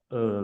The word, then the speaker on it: 饿: The final is the E for elephant. In Chinese pronounced as 饿。我饿了。